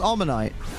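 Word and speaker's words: Omanyte: omite I pronounce it omite but I know some people say omite because of Omar but it's amonite because it's based on an ammonite inter about a is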